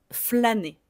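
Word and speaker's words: flâner: une traduction en anglais flané. Flané. L'accent circonflexe sur la lettre A ne change absolument pas la prononciation.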